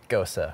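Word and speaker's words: gose: to it yeah absolutely any time that you look at the word gosu you wouldn't think to pronounce it gosa right like you just look like ghost and i learned i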